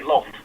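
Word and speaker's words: Lolth: say low yeah yeah they say lolith like the rest of the world but if you read the drist books they don't say look they say loaf they don't they don't do that pronunciation separation well no that was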